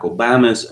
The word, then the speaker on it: Obama: told you know that i'm not saying uh barack obama's name correctly um as far as i'm concerned rhymes with alabama and now kamala harris